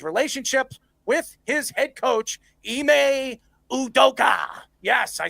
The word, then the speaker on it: Ime Udoka: Durant also mentioned wanting to go to the Rockets because of his relationships with his head coach, Ime Udoka.